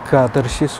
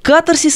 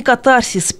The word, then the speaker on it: катарсис: На самом деле катарсис, ударение это из древнегреческого. Катарсис, а не катарсис, пеня, а не пеня, талика, а не толика, мизерный, а вовсе не мизерный.